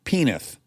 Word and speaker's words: Penith: the entire episode to finally learn how to pronounce but alas I can do it penith he did it which is the Dave soundtrack